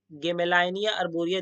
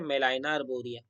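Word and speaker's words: Gmelina arborea: गेमेलाइनिया अर्बोरिया दिखाएगा, बट जब आप इसको प्रोनाउंसिएट करोगे तो ये जो हमारा ग है ना, और यहाँ पे जो हमारा जी है, ये क्या होता है, ये बेसिकली जो है साइलेंट है। ठीक है, इसलिए मेलाइना अर्बोरिया।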